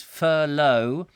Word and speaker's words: furlough: won't get 80% wages we've been corrected on the correct pronunciation Audrey Forbes Hamilton tells us it is furlough and Barry says he